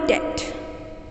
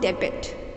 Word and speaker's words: debt: i am in your debt i'm in your debt d e b t is not debit the correct pronunciation is death because b is silent here love next phrase i